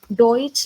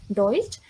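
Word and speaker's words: Deutsch: आप उसमें जर्मनी बोलेंगे सो जर्मनी बेड आउटडोइच डोइच लंट लाइक हमें बस लास्ट में अपना ये ऐड ऑन करना है German bed बेडोइटेड means mills so German means डोइच and Germany means डोइच land can you please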